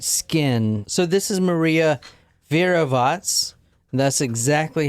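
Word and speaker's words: Virovácz: This is Maria Verovats. That's how you say her name. I actually looked it up here. Verovats.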